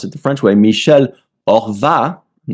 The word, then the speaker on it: Horvat: And then the last name, you don't pronounce the H at the beginning of a word.